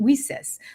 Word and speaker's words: WiCyS: We often go by our acronym, and we spell that WiCyS and pronounce it WiCyS, like we sisters, because that's exactly what we are.